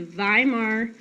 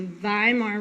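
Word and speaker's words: Weimar: is established and they establish the viar Republic so in German you pronounce W's like V's so the viar Republic is established it's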